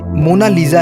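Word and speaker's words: Monna Lisa: और लिखते हैं मोनालिसा, लेकिन मोनालिसा की असली स्पेलिंग MONNALISA है और इसका सही प्रोनाउंसिएशन इटली भाषा में मोनालिसा है, जिसका मतलब होता है माई लेडी।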